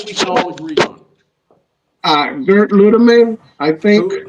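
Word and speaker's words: Gerd Lüdemann: Gerd Ludeman, I think. How do you spell that?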